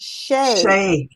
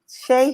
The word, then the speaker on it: Shea: life okay so it's pronounced shay shea okay like shea butter got it oh well